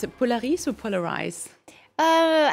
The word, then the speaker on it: Polaris: pronounce it Polaris or polariz uh I say a French way Polaris so we'll stick to